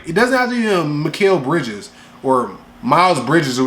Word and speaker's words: Mikal: I call him Mikal. Some people call him Michael. It's Mikal.